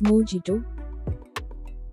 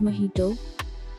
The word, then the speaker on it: mojito: use this word and there is some mispronunciation of this word as mojito but its correct pronunciation is mojito it is because of the difference in spelling and pronunciation system in english pizza is a savory